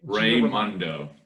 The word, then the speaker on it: Raimondo: Raimondo. Raimondo. Yeah. Like Ray, like my cousin Ray, like that, yeah.